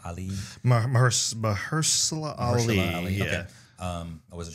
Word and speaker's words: Mahershala: I'm not sure, but I think his name is Mahershala Ali. Mahershala Ali. Yeah. Okay. I wasn't sure how to pronounce the first name.